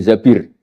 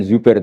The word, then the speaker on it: Zabir: Kemudian saya nikah sama Abdurrahman bin Zabir. Di hadis ini bukan bacanya bukan Zubair, tapi zabir. Abdurrahman bin Zabir.